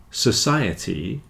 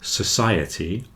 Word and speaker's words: society: all of these words the most commonly mispronounced words are society and variety you'll see the I there is stressed but when you've got